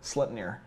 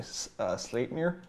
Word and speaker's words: Sleipnir: But and they try to teach us how to properly say Sleipnir, which is how we pronounce it, but it's actually Sleipnir. Yeah, it's more like an A sound in the middle.